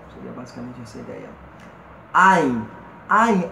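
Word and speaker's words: עין: Ein, a semelhança do Aleph, ele também é pronunciável e é uma gutural. Eu digo impronunciável porque ele é accent, ele é silencioso, você quase não o percebe saindo da garganta.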